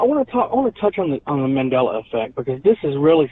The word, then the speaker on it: Mandela: Mandala or Mandela? Mandala? Mandela effect. Mandela effect.